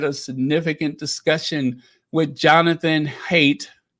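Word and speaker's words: Haidt: In honor of World Mental Health Day, Prince Harry led a significant discussion with Jonathan Hate. It's H AI DT. So, I guess the D is silent.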